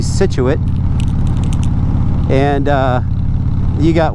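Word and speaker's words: Scituate: You got uh skituit which is actually situ and uh you got warester which is wist you know.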